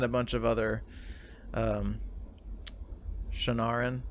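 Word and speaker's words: Shienaran: bunch of other um shannaran how did you pronounce that again shinaran shinar and shinar and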